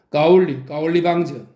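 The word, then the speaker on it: 高丽棒子: 까올리 방저. 이 말은 고려방자의 중국식 발음으로 고려놈들이라는 뜻입니다.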